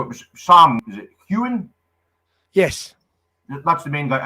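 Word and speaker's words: Heughan: Is it Hewen? Yes. That's the main guy. I just want to make sure I'm pronouncing his name correctly.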